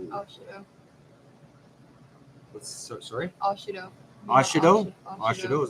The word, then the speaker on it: Ashido: Mina Shido. Ashido. Sorry? Ashido. Ashido? Ashido, is that how you pronounce it?